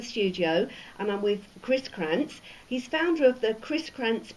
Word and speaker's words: Krzentz: It's pronounced Krzentz.